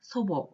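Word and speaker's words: 祖母: 조 호 라고 쓰고 일본어로는 소보 라고 발음을 하죠 소보 라고 하는 것은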